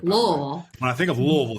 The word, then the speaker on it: Louisville: You know, he was, when I think of Louisville, you got to say it right. Louisville.